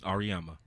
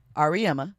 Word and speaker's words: Auriemma: I do not know how to pronounce his last name. I always jack it up. Auriemma. Auriemma.